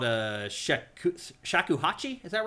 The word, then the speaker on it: shakuhachi: Um, so in the first game there was a musical weapon called a shak shakuhachi. Is that right? Is that how you pronounce it?